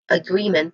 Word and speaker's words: agreement: So when it comes to pronunciation agreement, there's three distinct sounds here. Now the first sound is a schwa sound, which means that it is a weak and stressed vowel sound. The primary stress here is on the second syllable, gree, which has a long E sound.